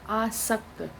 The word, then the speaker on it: आसक्त: इसी तरह अशक्त, श इसमें है और यहाँ पर आसक्त। बहुत से लोग ऐसे होते हैं जो स और श का उच्चारण एक सा करते हैं परंतु अर्थ में इनके बहुत अंतर है।